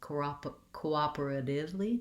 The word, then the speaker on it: cooperatively: era two syllables then my t my letter t says more of a d sound in this word it's a flap t cooperatively div rather than tif i can use a